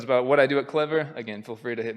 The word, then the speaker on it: Clevyr: So I work at a company called Clevyr. It's spelled just like the word clever, but the last E is actually a Y because we're clever like that.